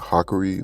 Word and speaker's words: Hakuri: It's supposed to be like Hakuri, like, Hock.